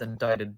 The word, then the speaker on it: indict: on the 23rd of september 2020 netflix was indicted by and uh he said a word i don't know yeah it's pronounced indict all right netflix was indicted by